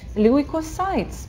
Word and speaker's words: leukocytes: Leukocytes, прекрасно. Все, пожалуйста, повторите хотя бы за Светой, если лень писать. Leukocytes.